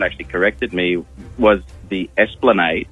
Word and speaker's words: Esplanade: corrected me, was the Esplanade. It's a street in Semaphore, Yeah. and for many years I pronounced it Esplande.